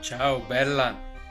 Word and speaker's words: Ciao Bella: His brother will show us how to pronounce the phrases 'Ciao Bella' and 'Ciao Bello'. <Italian> Ciao Bella <Italian> Ciao Bello So, now you must be